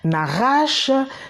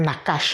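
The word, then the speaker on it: נחש: Nachash, c'est bon, d'aucuns diraient Nakash, hein, mais bon, eux, les Hébreux, ils prononcent Nachash, les Juifs.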